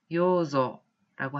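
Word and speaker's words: 養女: 삼녀 혹은 셋째 딸이라고 할 때 한자로는 삼녀라고 쓰고 산조 이렇게 발음을 하시면 되겠습니다. 그에 반해서 양녀라고 할 때는 한자로는 요조라고 하시면 되겠고요.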